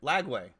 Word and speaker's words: Lagway: you always the the the names that you pronounce sometimes are not yeah yeah you call him Langley or whatever I okay how do you how